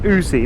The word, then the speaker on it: Aoocci: As I said, Aoocci actually do, Aoocci, sorry, it's pronounced Aoocci, not Aoocci, not Aoocci, Aoocci.